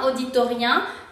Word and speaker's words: auditorium: Entonces debería de ser un auditorium, pero aquí el UM no se pronuncia un, sería om.